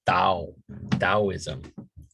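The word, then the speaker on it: Taoism: we go into the the big taism or some people pronounce it da DSM okay and again same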